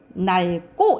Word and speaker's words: 낡고: 밑에 이거 22쪽 뒤에 리을 기억 뒤에 기억 오니까 낡고 이렇게 발음 나겠죠, 그쵸?